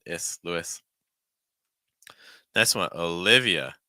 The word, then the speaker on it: Olivia: is Lewis next one Olivia so instead of leave it's more live short ey and then finishing again on a schwas sound uh Olivia Olivia notice that in